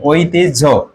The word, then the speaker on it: ঐতিহ্য: আর রসই হবে, আর হয়জা ফলা যদি থাকে তাহলে আগে বর্গীয় জ হবে, তারপর হচ্ছে ঝ হবে।